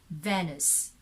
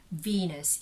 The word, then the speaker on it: Venus: how it is written so venice but that is red venus if you are referring to the goddess of love and beauty that's venus okay so but if your